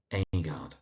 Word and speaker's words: Agard: And there's John Agard, so that's John Agard.